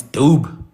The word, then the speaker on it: Dube: I want to look at the word dube, for example. Dube, in Kora, it's dobe. Dobe. It's dobe in Kora.